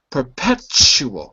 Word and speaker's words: perpetual: Perpetual. Listen to the ch sound.